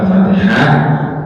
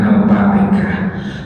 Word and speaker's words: al-Fatihah: haknya sering saya sampaikan jangan sampai alfatihah. Alfatihah. Jangan alfatikah. Katanya kalau yang suka bilang itu orang Jawa. Alfatikah punya alfatihah.